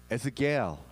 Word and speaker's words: 에스겔: 에스겔. 겔을 찾으면 돼요. 에스겔. 갤럭시 할 때 겔.